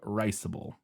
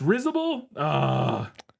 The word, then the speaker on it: risible: It's risible? According to Google. Risible. Yeah, risible.